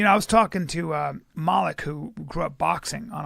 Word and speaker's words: Malik: I like the soft A.